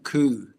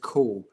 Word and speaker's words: Ku: There's a guy called, who's in it, who's a Japanese monster hunter called Yoshio Ku. And, or actually, I think it's pronounced Ko.